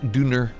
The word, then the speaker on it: Döner: Yes, but does it have doner? Or sorry, as the Germans like to pronounce it, Döner.